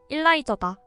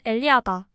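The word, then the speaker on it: Elijah: 또 소설에서 한 사람을 제외하고 모두 죽을 것이라는 예언한 남자의 이름은 일라이저다. 히브리식 발음으로는 엘리야다.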